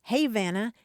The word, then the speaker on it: Havana: Havana Florida and Cairo Georgia but they're actually pronounced Havana and Koo Randy says when I first moved